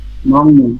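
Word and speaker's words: 먹는: মান্নুন mock. এখন পর্যন্ত মকই আছে। যখন আমি নুন লাগাবো তখন হয়ে যাবে মংনুন। মংনুন।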